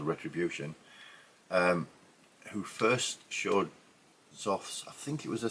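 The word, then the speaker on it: Xoth: Now I believe it's pronounced Zof. It's spelled X O T H.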